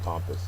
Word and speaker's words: pompous: uh she would be pompous in my book uh adjective first syllable is accented it is overly self-important